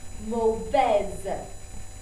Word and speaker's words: mauvaise: So adding this E beside this consonant means I'm going to pronounce it now. So over here is mauvais, but when I add an E, it becomes mauvaise.